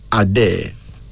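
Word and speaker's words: Adé: name is a day a day a d e pronounced as a day now this is a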